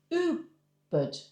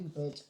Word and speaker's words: Ubud: it's oo. It's like the two O's. So all right. Ooh. Ooh. Ooh. Ubud.